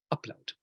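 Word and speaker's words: Ablaut: Anyway, so we're going to talk about something called upload, which is spelled with a B but pronounced with a P.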